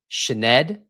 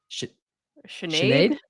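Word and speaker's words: Sinéad: Then, hailing from Great Britain, I have watched how to pronounce this name 4 times today. We'll see if we get it right. Sinead. Sinead.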